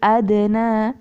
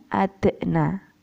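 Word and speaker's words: أدنى: Minal adzabil adna, bukan adna, ya.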